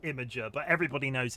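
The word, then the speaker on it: Imgur: It's pronounced Imager, but everybody knows it's spelled IMA.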